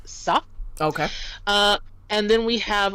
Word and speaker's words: ça: Without the squiggly, CA would be ka, which we don't want here. It is sa.